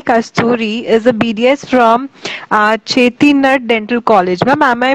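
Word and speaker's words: Chettinad: Shruthi Kasthuri is a BDS from Chetinad Dental College. Ma'am, am I pronouncing the name right? Yeah, I am a graduate from Chetinad Dental College.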